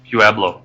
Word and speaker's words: Pueblo: Pueblo.